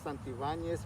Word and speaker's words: Santibanez: full name uh full name is santivanes santi valos santibanes van yes there you